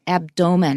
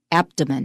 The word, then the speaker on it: abdomen: was very young but from a long time ago it moved to the first syllable so it is now pronounced abdomen by most people mm-hmm that's an en